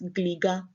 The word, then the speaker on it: Gliga: So the Ewe pronunciation is actually the correct one. It's Gliga.